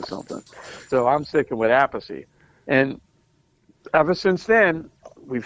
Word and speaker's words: Appice: Luckily, he doesn't play because he says a peach, the Italian way.